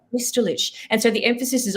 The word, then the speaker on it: Bestulich: The exact pronunciation is Bestulich. So it's got the ich sound at the end.